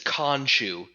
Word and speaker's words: Khonshu: It's Khonshu is how it's pronounced.